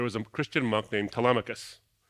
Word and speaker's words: Telemachus: So a few centuries after the birth of the church, there was a Christian monk named Telemachus, or Telemachus is how you actually pronounce it.